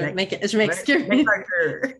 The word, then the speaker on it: McArthur: MacArthur. McArthur, je le dis toujours en français, puis là, je suis comme, oh non, c'est vrai, Ouais, elle le c'est correct. prononce. C'est bien correct.